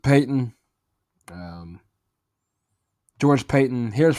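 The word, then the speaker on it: Paton: I guess that's how you're going to say his name. Pronounce it Peyton.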